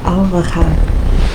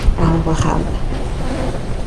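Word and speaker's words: الوهاب: Alvahab. Alvahab. Um, have, right? Have sounds like have to me.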